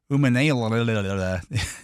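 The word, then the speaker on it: Umanmielen: 17, Princely Umanala, edge rusher out of Ole Miss.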